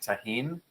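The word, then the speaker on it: Tajín: If you were going to do this particular cocktail, I would do something fun like taheen.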